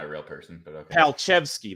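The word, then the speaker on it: Palczewski: Palchevsky, that's how you call and talk. That's how you say that.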